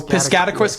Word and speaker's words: Piscataquis: So, Piscatquist County, Maine. So, it's not quiscat and quiz.